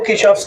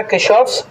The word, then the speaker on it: Kirchhoff: अब आप रेडी हो किरचॉफ्स लॉ को पढ़ने के लिए।